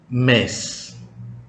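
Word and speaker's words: mês: Kata yang ketiga, mes.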